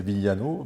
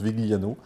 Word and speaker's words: Vigliano: Alors à l'italienne c'est Vigliano, Oui. mais bon je le prononce Vigliano.